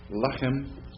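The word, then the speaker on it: לחם: Lechem, bread, food. Notice on the Segolit noun, like lechem, the accent's not unusually for a Segolit noun on the first syllable instead of the second syllable, like melech and other Segolit nouns like the evid.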